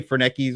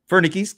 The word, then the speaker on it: Fernickies: Remember I used to say Fernkis or something. Yeah. I I've known this dude for like 20 years and I said his name wrong for 18 of those years or something like that. Uh so Bob Fernkis. Fernickis. Thank you.